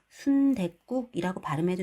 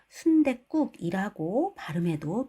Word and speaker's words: 순댓국: 이때 받침에 덧붙여 적은 시옷을 디귿으로 발음하는 것도 허용하여 순댓국이라고 발음해도 되고요. 순댓국이라고 발음해도 또 표준 발음법에서는 인정해준다고 합니다.